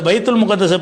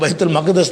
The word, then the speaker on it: பைத்துல் மக்தஸ்: அந்த பைத்துல் முகத்தஸை பற்றி என்ன செய்வாங்கன்னா, அந்த பார்சி சமுதாயத்தில் உள்ளவங்க பைத்துல் குதுசுடைய பைத்து, அந்த புனிதமான இல்லம் நம்ம ஜெருசலத்தில் இருக்கிற பைத்துல் முகத்தஸுங்கிறோம்ல, பைத்துல் முகத்தஸ் தவறான உச்சரிப்பு தான். பைத்துல் மக்தஸ் தான் அதுக்கு பேர்.